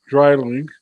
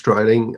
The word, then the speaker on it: Dreiling: I really like the product, and its president, Dreiling. Am I pronouncing it right? Dreiling? Absolutely.